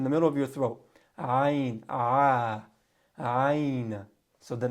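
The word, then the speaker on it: ع: As we mentioned earlier, ayn is in the middle of the throat. If you have a hard time pronouncing ayn, get a toothbrush, stick it down your throat. All right. Sometimes if you're brushing your tongue and you go a little too far, that sound will come out.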